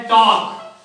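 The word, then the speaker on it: talk: जैसे एक आता है टॉक। क्या आता है? टॉक में क्या साइलेंट है?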